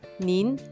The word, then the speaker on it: 您: Usted se pronuncia nin. Lee conmigo. Ne, yin, con segundo tono, nin.